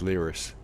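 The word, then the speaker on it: Lyris: you then hello I've I've been pronouncing your name long wrong it's lyus we're trying to get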